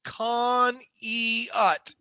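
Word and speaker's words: Conneaut: there at one time the pronunciation is khan e ut love the pike as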